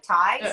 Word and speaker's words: Tai: my name my name my last name is t-a-i but it sounds like thai so people always want